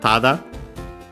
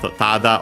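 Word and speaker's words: ただ: Then we have tada. Several meanings technically, but yeah, this is the fundamental one. Only, merely, just, simply. This is one of the most common ones. Accent on the first more.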